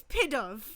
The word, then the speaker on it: Pidove: I don't like the pronunciation of pie dove. because you think pit of. It's pidove.